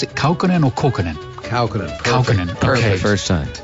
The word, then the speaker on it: Kaukonen: And Yorma, do you pronounce it Kaukonen or Kaukonen? Kaukonen.